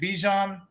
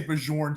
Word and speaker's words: Bijan: Bijan Robinson. Yep. I always say it wrong, and I say Bajorn sometimes.